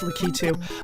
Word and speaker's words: Lakitu: And yes, it is pronounced Lakitu.